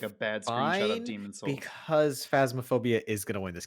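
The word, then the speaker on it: Phasmophobia: carrion mortal shell rajyan ancient epic roki and fantasma phobia phasmaphobia yeah i think it's phasmaphobia i definitely said it wrong yes i have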